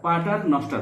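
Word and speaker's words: paternoster: প্যাটারনস্টার হ্রদ বা পাটার, তোমরা উচ্চারণ করতে পারো প্যাটারনস্টার হ্রদ।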